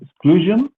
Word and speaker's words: exclusion: We have exclusion. We have to pay attention to the pronunciation. We say j, not sh.